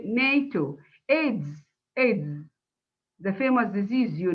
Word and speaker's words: NATO: Okay, and we say NATO, not N-A-T-R-O, no, we say NATO.